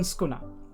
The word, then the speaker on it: Sukuna: um the all right so it's skuna you um basically uh basically the first U is silent which is often the case in in Japanese um actually generally it's